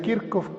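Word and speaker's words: Kirchhoff: se llama leyes de kirkuk se escribe así kirch pero se pronuncia kirk con esas leyes es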